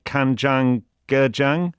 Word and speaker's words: kanjang-gejang: You mentioned several ways of using the blue crab in food dishes, but there's one dish that I will now mispronounce, which is kanjang-gejang?